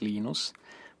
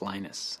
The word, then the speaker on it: Linus: I speak Finnish it's Lino's when I speak English its Linus and I really don't